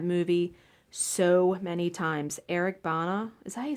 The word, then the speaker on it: Bana: I've seen that movie so many times Eric Bana as I say his name bana Eric Bana